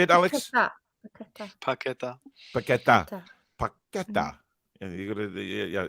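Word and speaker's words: Paquetá: Paqueta.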